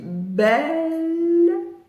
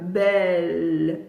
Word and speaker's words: belle: Par contre, si je dis belle, une syllabe. Belle. Mais belle, je baisse ma langue. Belle. Belle. Et non pas belle. C'est pas belle, 2 syllabes. C'est belle. Une syllabe qui se prolonge.